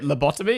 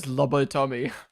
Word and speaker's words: lobotomy: Wait. Labbotomy. Is that Did I just pronounce that wrong? Labbotomy. Sorry. Sorry. Why did I read that? Lobotomy.